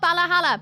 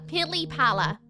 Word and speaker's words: pili pala: No, not Balahala. Pili Pala. Pili. Starts with a P on both of those.